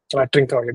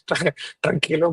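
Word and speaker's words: Trincão: Trincao, that is what I was like pronouncing as Tranquilo, but yeah, I meant Trincao.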